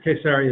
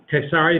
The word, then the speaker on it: Caesarea: coast we have Caesarea this is K sorry and maritima it's aria by the sea K sorry because it's Caesars the kaisers city will have more to